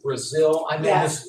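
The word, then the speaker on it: Brazile: Governor Christie and Donna is it Brazil did I say her name right yes and they they did a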